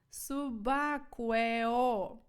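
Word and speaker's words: subacqueo: на сьогодні гарне слово всі разом хором вимовляємо це субакуео давайте разом субакуо субакуо Ну якщо Аква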